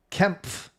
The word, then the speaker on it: Kempf: It is pronounced like Kempf. So you say the P and the F.